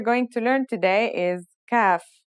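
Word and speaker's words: كاف: The first letter we're going to learn today is kaf. The kaf is pronounced just like the English K.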